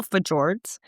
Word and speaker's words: fjord: sea otters, and glacial fjords. Home, am I saying that wrong? Very. What? How do you say it? It's Scandinavian. Fjords. Fjords. Okay. You just offended Norway. Fjords.